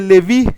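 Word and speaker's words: לוי: significa Dios ha escuchado luego viene Leví que así se pronuncia también en hebreo y que significa el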